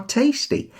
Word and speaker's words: tasty: The cherries are tasty. Emphasis on che and te.